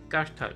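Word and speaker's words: կարդալ: Voilà, CH, on prononce comme en anglais, ch. Kitsch M. Sirum. Kartal.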